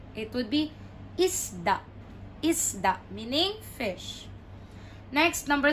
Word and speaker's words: isda: Isda means fish. So, the stress is in the middle. Isda. Isda. Not isda. It would be isda.